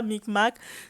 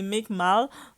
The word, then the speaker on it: Meek Mill: commentair on écrit de c'est pas mic mac c'est mic mal je sais mais je